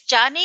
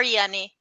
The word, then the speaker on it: Yanni: Actually, is Johnny or Yanni? How should I pronounce it? Yanni. Yanni, okay. Yeah, but So, both are good.